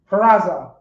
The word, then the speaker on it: Peraza: I don't too strongly say the T. It's supposed to be pronounced more like so. Peraza. You understand? Like the T and the Z are kind of connected, but you really more emphasize the Z than the T.